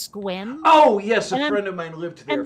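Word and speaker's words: Sequim: place that looks like sec wium but it's pronounced squint oh yes I lived here for a while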